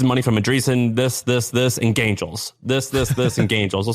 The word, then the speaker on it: Gaingels: If you Google, it's spelled Gaingels, like Gain, like Gain, and then Joels, Gaingels.